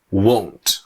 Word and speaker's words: won't: or you want now the difference in the pronunciation is with the pronunciation of won't the mouth does not open very much here I won't do it I won't do it not much right but here I want